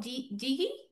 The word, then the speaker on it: Guigi: Gracias, eh, Jigi, no sé cómo se pronuncia tu apellido. Sí, estoy aquí. Digo mi apellido yo. Hola a todos. Hi everyone. E mi nombre es Guigi.